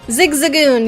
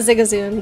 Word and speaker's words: Zigzagoon: not Zig uh wait Zigzagoon you're right not zigazoon Zigzagoon dang it I'm gonna